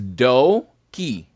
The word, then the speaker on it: Doki: I gotta just say though, his real name is not pronounced Dookie, correct? It is Doki.